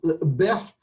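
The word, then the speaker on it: قبيح: So the way you pronounce this in spoken Arabic is bih. You don't pronounce the kof.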